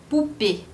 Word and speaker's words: poupée: Então, você tem, como por exemplo, a palavra poupée. Poupée tem um accent aigu. Du coup, a palavra, você pronuncia o E no final, porque tem o acento.